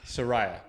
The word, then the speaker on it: Sooraya: Today I am here with Sooraya. Is that how you pronounce the name? Close. Close. How do I do it? Please correct me. Sooraya. Yeah. Sooraya.